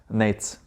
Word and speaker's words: Nejc: So first things first, name, Nejc or Nejcs? Nejcs. Nejcs, okay.